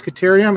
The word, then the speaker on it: Caterium: So maybe I should be trying to find a way to get to this Caterium and see if there's anything else up here.